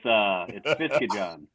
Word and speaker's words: Fiskejahn: Well, it's just like it's spelled, you know, just sound it out. No, it's Norwegian, so it's a tough one. It's Fiskejahn.